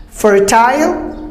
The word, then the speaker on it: fertile: Fertile, British go for the I sound and Americans just cut it.